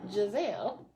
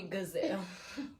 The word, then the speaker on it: Giselle: What would they say besides Giselle? They call me Gazelle.